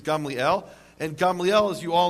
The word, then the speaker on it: Gamliel: So a precedent a precedent which gaml you probably thought it was pronounced gamaliel. Uh the correct Hebrew pronunciation is Gamliel.